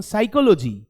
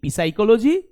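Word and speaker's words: psychology: লেটারটা সাইলেন্ট থাকে যেমন সাইকোলজি সাইকোলজি কি দিয়ে শুরু হচ্ছে পি দিয়ে শুরু হচ্ছে কিন্তু পি এর কি আমরা উচ্চারণ করি আমরা কি বলি পি সাইকোলজি কখনোই বলি না তো আমরা বলি কি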